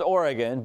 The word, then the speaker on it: Oregon: what conference are you in okay remember it's pronounced Oregon but that's all right you're just kind of